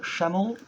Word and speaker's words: Shemmell: single somewhere I called Sam Channel I believe that's how you say his name and he's a brilliant